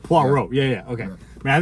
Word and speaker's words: Poirot: So like, think about like, moi, like, Yeah, Poirot. so it's Poi, P-O-I, Ro, R-O-T. There's a silent T. So it's just Poirot. Poirot.